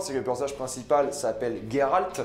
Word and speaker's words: Geralt: que plantage principal s'appelle geralt je ne dirais pas gérald je déteste la prononciation de gérald je dirais geralt jusqu'à la fin de ma vie je suis désolé grosso